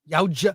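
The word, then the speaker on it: Yautja: How is it Yaucha? Yaucha. It's like a J in there.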